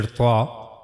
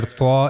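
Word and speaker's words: ط: Now the origin of letter tha is here. As you can see here, the origin of the letter TA is top of the tip of tongue and it will connect to the gum line of the two front upper incizes here. Not to the upper incizes but it will connect to the gum line. Okay. At the back of the incizes.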